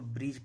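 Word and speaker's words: bridge: जब भी डी के बाद जी रहेगा तो हमेशा डी साइलेंट रहेगा। इसको ब्रिज पढ़ा जाता है।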